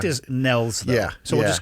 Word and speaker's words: Niels: uh on his behalf your name is spelled like it should be niels the fact that it's nells yeah it's it's denmark